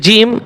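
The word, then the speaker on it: جيم: জিম জিম। মাখরাজ number কত? 6। আর এটা একটু খেয়াল রাখবেন, অনেকে বলে জি, জি হবে না, একটু শক্ত করে হবে, বেশি শক্ত না আবার বেশি নরমও না, মাঝারি।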